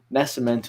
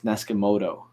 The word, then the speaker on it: Nascimento: name just underneath here, Nascimento. If you just sound it out, you'll say it. I had a substitute teacher when I was in grade 7. They pronounced it as Neskimoto.